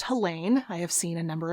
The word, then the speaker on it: Helene: about the author helene hampf and it is pronounced helene i have seen a number of different sources